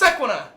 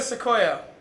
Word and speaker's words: Sequoia: I thought Sequoia was pronounced Sequina, and I thought that is a weird fucking name for a car, the Toyota Sequina.